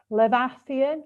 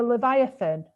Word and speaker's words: Leviathan: i don't even know how to say this levathian little evie ethan it's from the da it's from the bible or hebrew or something but the leviathan thank you whoever that was um it keeps